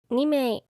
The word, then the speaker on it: 名: people, just put on "名(mei)" We use it like this Hello, I would like to make a reservation Alright How many people? two When answering, it's okay to say "人(nin)" or "名(mei)" Another common usage is